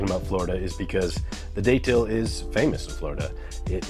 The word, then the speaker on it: Datil: Today is letter D for Datil. I had somebody else tell me that most people pronounce it Datil, I guess, but there's a T in it, so I'm going to say Datil.